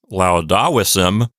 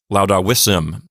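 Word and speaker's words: laudavissem: Okay, V-I-S, that syllable ends with a consonant. So that is a closed syllable. Even though the vowel there is short, the syllable is still going to get the accent because it's a closed syllable. So this will not sound like laudavissim. It sounds like laudavissim.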